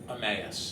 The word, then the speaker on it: Emmaus: How's that town pronounced again? Emmaus.